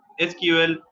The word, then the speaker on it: SQL: ठीक है, एसक्यूएल जैसे प्रोनाउंस्ड होता है एसक्यूएल। ठीक है, ESSQUE और EL इनको सेपरेट किया गया है प्रोनाउंस करने के लिए। इनको जो प्रोनाउंस किया जाता है तो वो है एसक्यूएल।